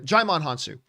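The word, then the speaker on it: Djimon Hounsou: think i butchered his name how do you pronounce his name uh jaimon hansu jaimon hans oh and and that wrestling hound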